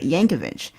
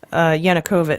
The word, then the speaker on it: Yanukovych: book we did mm-hmm he worked for a Yankovic is that how you pronounce it Yankovic Yanukovych yeah you're thinking a Weird Al yeah yeah